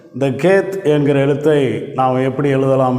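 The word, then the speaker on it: חית: ஆயுதத்தை அடையாளப்படுத்துகிற எழுத்தாக இருக்கிறது அடுத்த எழுத்து அடுத்த எழுத்து கேத் அப்படின்னு உச்சரிக்கிறோம். இந்த கேத் என்கிற எழுத்தை நாம் எப்படி எழுதலாம் என்று கற்றுக்கொள்வோம்.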